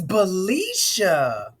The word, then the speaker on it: Balisha: and gentlemen and I think I pronounced your name right the first time didn't I is it's bellisha aren't that even better okay